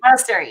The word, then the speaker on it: Munisteri: Yes, make sure I say Munisteri. Yep. Munisteri. It's almost like monastery, right? Because I understand monasteries, but it's Munisteri with a U in there.